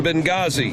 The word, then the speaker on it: Benghazi: coming up tonight night the H is silent in Benghazi but according to the